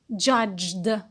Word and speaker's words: judged: In the past, it is judged. Judged. So we have only again one syllable, and the ed is pronounced de.